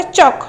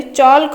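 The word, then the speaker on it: chalk: तापर चक आम जो चखड़ी लिखुंट ब्लैक बोर्ड स्कूल मानक जो चखड़ी लिखा होमें कौन कहते चल्क कहते कि आम कहते चक तार एलटा रोचे साइलेंट।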